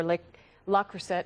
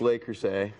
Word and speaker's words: Le Creuset: and he's here for L lack cret now see because he said it wrong now I can't say it right it's lay crus we're French and this